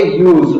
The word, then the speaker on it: use: की आ रही है, और S से क्या बन रहा है, ज बन रहा है, और E है वो यहाँ पर साइलेंट है, तो इसको यहाँ पर हम पढ़ेंगे यूज।